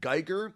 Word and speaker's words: Guigar: my handle is at Geer that's my last name it's spelled like guitar but with a G for a t yeah you're on Mastadon